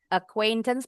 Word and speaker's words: acquaintance: Acquaintance bacanya bukan tapi acquaintance.